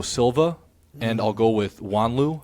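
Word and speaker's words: Juanlu: I'll go with Antonio Silva, and I'll go with Wanlu. I believe that's how you say his name, Wanlu.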